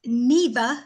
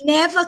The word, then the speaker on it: Neva: It's Neva. Neva. So, see, I always do it with British pronunciations of things. Never call me never, honey.